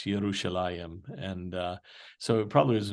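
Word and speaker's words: ירושלים: The root that we would pronounce, well, we pronounce it with a J, but they would pronounce it with a Y. I mean, there is no J in Hebrew. So Jerusalem is not Jerusalem, it's Yerushalayim.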